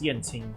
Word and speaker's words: Yanqing: That's Yanqing.